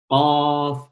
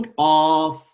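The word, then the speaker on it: قاف: Qaf, une seule lettre qui s'appelle Qaf. D'ailleurs, ça s'écrit comme une lettre, mais ça se prononce, la prononciation Qaf. Qaf. On ne dit pas Qa.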